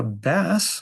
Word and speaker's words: bass: Uh, bass, which rhymes with pass, uh, is 0% about singing low notes and is all about the particular and has nothing to do with trouble.